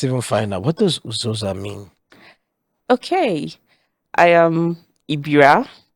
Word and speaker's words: Uzoza: Uzoza means beauty in my dialect in Ibira.